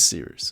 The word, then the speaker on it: Cirus: Air they're both fantastic my name is Cirus it's spelled like Cyrus but I like C rooster just take out the T thank you very much